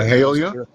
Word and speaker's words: Mahalia: Is that uh how do you pronounce her name? Just wanted to make sure. Mahalia.